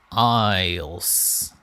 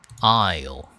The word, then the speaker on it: aisle: How do I remember this pronunciation? Aisles. Aisle. I. How to ignore this S? Aisle.